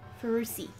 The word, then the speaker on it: Ferrucci: Mickey Schumacher is officially coming second behind Button and the American Santino Ferrucci. I hope that's how you pronounce his name. How would you pronounce it? Ferrucci? Ferrucci. Okay, Ferrucci.